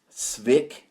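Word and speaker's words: Cwik: big league stew by Chris sck I think that's how you pronounce his name his last name is CWI K so Pete Rose has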